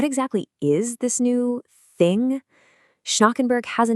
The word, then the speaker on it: Schnackenberg: That's pronounced Schnackenberg.